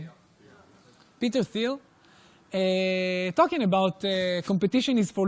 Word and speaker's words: Thiel: Peter Thiel.